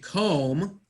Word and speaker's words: comb: correct, brush my teeth, correct, and comb my hair. The B is silent B, because English is strange.